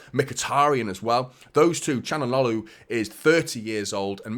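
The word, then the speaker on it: Çalhanoğlu: say quickly isn't it that's one of those names that you CH like that isn't it anyone who struggles with pronunciations you just go CH like that don't you chanal I think it's how you officially hakan chanal is I think how you officially pronounced that but mkhitarian as well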